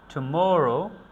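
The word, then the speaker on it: tomorrow: এটাকে আমরা বলি টুমোরো, টুমোরো, টুমোরো, টুমোরো। এভাবে আমরা এগুলার উচ্চারণ করে থাকি।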